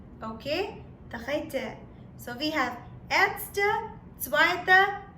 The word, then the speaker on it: Dritte: Then, 3 in German or third in German will be pronounced as Dritte. Okay? Dritte.